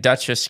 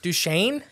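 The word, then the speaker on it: Duchesne: hours well the one you've been calling it Duchess County Duchess it's duch duchan duchaine yeah duchaine County now I swear somebody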